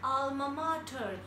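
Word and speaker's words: alma mater: Next is ALMAMATER एंड we pronounce it like अल्मा मैटर.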